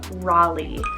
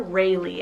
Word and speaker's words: Raleigh: quite a bit here i have the name raleigh spell r-a-l-e-i-g-h raleigh or rayleigh i guess you can do either or for pronunciation it's english originated meaning